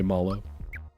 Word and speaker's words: Mallow: I will continue to say Malo. People have told me you should pronounce it the same way that you pronounce like marshmallow because he's supposed to be like a marshmallow, but that's just it.